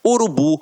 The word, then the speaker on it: urubu: exemplificação observem aqui ó oxítonas a última sílaba é a tônica então exemplo urubu motel marajá reparem que na hora da pronúncia de forma mais aguçada você vai perceber que realmente a pronúncia da última sílaba ficará mais forte aqui ó uru o